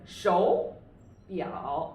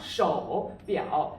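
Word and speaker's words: 手表: It's a 手表, but it's not 手表, because when two third tones occur together, it is real difficult for us to pronounce them in a really fast speed, you know. So with the first and third tone will be changed into the second tone.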